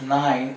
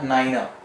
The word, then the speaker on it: niner: its most important you will not be pronouncing 9 as 9 in RT R because 9 is wrong pronunciation in ie language it is a Niner so one minor 3